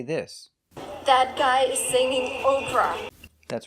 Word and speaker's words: Oprah: The pronunciation is the long O sound like no and go. Oprah.